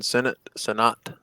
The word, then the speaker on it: Sinnott: It's spelled Sinnott, but everybody says Sinnott, including the announcers when I watch the tape.